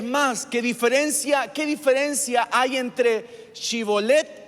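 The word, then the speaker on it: Shibboleth: Diga algo, a ver, dígame Shibolet. Y la gente le decía Sibolet. Sibolet, no pronunciaban la H.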